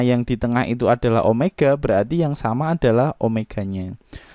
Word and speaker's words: omega: Omega ya, omega bacanya.